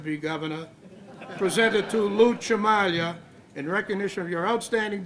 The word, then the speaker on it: Cimaglia: So, we've been mispronouncing your name all this time. What is it? Jock dust. What? Chamalia. Jamalia.